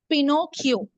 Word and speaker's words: Pinocchio: the next sentence Pinocchio how you going to pronounce this word pinio p okay c c h i o is